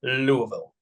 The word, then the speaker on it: Louisville: So no, but yeah, excited about Jarvis Brownlee from Louisville. Perfect. Perfect. Good pronunciation there.